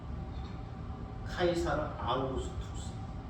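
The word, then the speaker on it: Caesar Augustus: 카이사 아스도 우리 한글로 그렇게 표기한 건데 원래 발음은 카이사르 아구스투스 라틴 발음 카이사르 아우구스투스 그래서 한글은 세계 모든 언어를 다 번역할 수 있어서 비슷하게 번역을 한 거죠. 가이사 아고스도 가이사 아고스도는 노마제국의 최초황제 카이사라 아우스투스를 가르킵니다.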